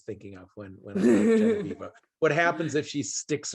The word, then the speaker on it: Genevieve: Genevieve, yes. Genevieve. I'm terrible at pronunciation.